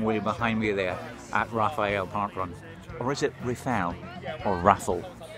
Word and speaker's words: Raphael: How do you pronounce it? Absolutely. I'm is it very Raphael? Happy to. It's Raphael. It is Raphael.